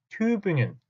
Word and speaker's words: Tübingen: 여러분들은 이제부터는 Göttingen 하지 마시고 발음도 정확하게 Göttingen 하고 읽어주시고 Tübingen, Göttingen 제발 그렇게 읽어주셨으면 좋겠습니다.